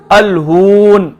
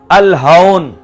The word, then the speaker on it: الہون: پر ایک لفظ ہے الف لام ہا واو اور نون، اگر آپ اس کو پیش کے ساتھ پڑھیں الہون تو اس کا رسوائی، لیکن اگر آپ زبر کے ساتھ پڑھیں الہون تو اس کا معنی